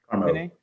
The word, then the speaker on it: CAARMO: So now we're on to today's presenter, and I apologize if I forget how to pronounce this. It's CAARMO? CAARMO.